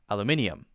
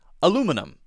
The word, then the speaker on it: aluminium: he says aluminium aluminium so Australians and British people tend to say aluminium Americans say aluminium aluminium aluminium so aluminium and aluminium that's a difference we